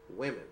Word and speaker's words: women: The correct answer is women. Remember, you change A to E. You also change the whole pronunciation. See, woman, but women. One woman, two women. So the spelling is changed, the pronunciation is changed.